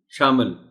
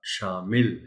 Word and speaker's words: شامل: کے پڑھا جانا چاہیے۔ شامل، اس میں احتیاط نہیں کی جاتی، شامل کہہ دیتے ہیں لوگ۔ درست تلفظ اس لفظ کا شامل ہے، میم کے نیچے زیر کا خاص خیال رکھا جانا چاہیے۔ آپس، آپس، آپس بعض